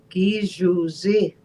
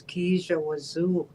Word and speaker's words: Gijuzi: Gijuzi. That's what it was supposed to be. Gijuzi. But they pronounced it out as Kijawazu. And that wasn't right, It was Gijuzi.